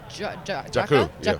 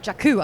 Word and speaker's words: Jakku: This new landscape that we now know is Jakku. Jakku. I've got to get that right. I'm like Jukka.